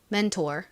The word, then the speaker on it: mentor: 도움을 주고 이런 사람을 멘토라고 하죠 미국식 원어 발음으로 한번 연습해 보겠습니다 mentor 자 이제 다음 덩어리 소리를 보겠습니다 e e